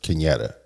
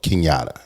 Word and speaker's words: Kinetta: people before she does kinetta cuz immediately they go kinata I'm like where in kinetta did I say kinata and the thing is